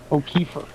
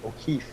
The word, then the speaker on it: O'Keefe: e e f e O'er no there's no r o'keef o'keef o truthfully ke